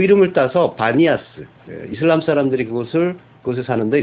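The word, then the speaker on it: Banias: 이제 그 이름을 따서 바니아스 이슬람 사람들이 그곳을 그곳에 사는데 이스람 사람들은 발음이 안 돼요 그래서 바니아스 불러요 가이사라 빌립보를 거기에서 또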